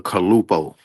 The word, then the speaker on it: Calupoh: How do you pronounce it? Ready? It's the Kalupo. Kalupo.